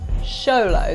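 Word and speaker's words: Xoloitzcuintli: be able to pronounce show low eats queenly there are plenty of ways this pooch is one of the rarest in the world show low that's how you say it yeah show the squinty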